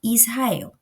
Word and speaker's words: Israel: A gente vai observar o exemplo, deixa eu votar, Honra e Israel. O som é igual a esse primeiro, né, de rato. Ele tem um som forte de r, r.